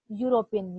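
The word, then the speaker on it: European: आ रहा है हिंदी में, ई का तो साइलेंट है तो साउंड आ रहा है यूरोपियन, या तो एन आएगा कि आ आएगा, यहाँ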